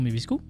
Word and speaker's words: Mavisku: Bonjour Mevisku. Bonjour. Donc, c'est comme ça qu'il faut le dire, ça s'écrit M-A-V-I-S-K-U, mais c'est bien comme ça qu'il faut le prononcer.